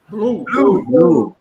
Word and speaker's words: blue: Não precisa pronunciar aquele E no final, tá? Faz de conta que ele não existe. O inglês tem isso, nem todas as letras são pronunciadas, né? Inglês e francês tem isso, né? Então, pode falar blue mesmo, tá?